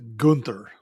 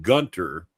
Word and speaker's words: Gunther: It is Gunther. Well, I heard somebody actually pronounce on the show calling him Gunter, not giving him the H that he probably deserves.